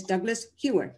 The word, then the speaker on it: Douglas Hewer: in person but live and his name is douglas hewer is that did i pronounce that right douglas yes well welcome to